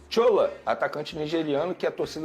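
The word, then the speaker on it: Shola: nigeriano ele se a o nome dele é assim que se escreve sh o l a aí eu pronuncio dessa maneira é um atacante nigeriano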